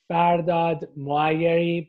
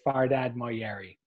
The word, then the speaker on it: Fardad Moayeri: so I I the the proper way to say the whole name is farad mui but everybody knows me as fardad moeri okay yeah all right